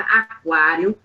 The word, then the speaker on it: aquário: gente que escreveu errado muita gente esquecendo acentuação aquário mesmo botar o aquário é aquário é aquário aquário o sílaba tônica aquário entendeu então se ligue